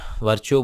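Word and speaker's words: Virchow: Rudolf वर्काउ ने बताया, अब वर्चो बोलते रहते हैं वैसे इंडिया के अंदर में, तो प्रोनाउंसिएशन तो यही वर्चो चलती है।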